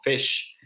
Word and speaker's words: fish: Entonces con fish pasa lo mismo, fish. Lo que pasa es que cuando pronunciamos la I corta rápido, al ser una I corta, es posible que la podamos escuchar como una E muy suave, pero es una I.